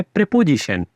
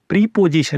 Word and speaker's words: preposition: इन दोनों को जोड़कर बनाया गया है प्रेपोजिशन। अब ध्यान रहे, इन दोनों को जोड़ने पे प्रोनाउंसिएशन प्रीपोजिशन नहीं होता, प्रेपोजिशन होता है, जिसका मतलब है किसी जगह के नाम से पहले आने वाला शब्द।